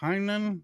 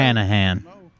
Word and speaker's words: Hanahan: Hello from, I don't even know how to pronounce it. Hainan, South Carolina. Whatever. Hanahan.